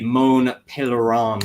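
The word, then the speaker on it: Mont Pelerin: on to the uh here it is the moan pan Society uh there you go that's how you pronounce it uh which was founded in 47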